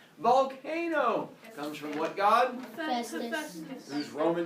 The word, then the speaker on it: Hephaestus: Festus. Whose Roman name was? Vulcan. Good job on pronouncing Hephaestus' name correctly.